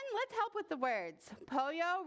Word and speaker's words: pollo: help with the words Poyo rhymes with Froyo it's a chicken a